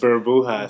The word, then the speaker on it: Burbujas: Burbujas de Amor means. Did I say it wrong? Yes, you did. What is it? Let's stop trying to speak Spanish. Burbujas.